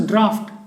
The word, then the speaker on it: draught: Now this is not pronounced as draught, but this is pronounced as draft.